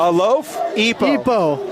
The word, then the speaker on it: Alofipo: We had family come in and said, hey, it's Alofipo. Like a loaf? A loaf? Epo.